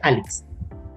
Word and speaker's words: Alixe: Entonces se escribe Alixe, pero se pronuncia Alex.